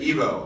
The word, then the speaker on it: Ivo: Evo, I-V-O, Yeah.